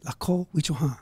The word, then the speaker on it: Lakota: Lakota, we call it. And did I pronounce it right? Lakota, yeah.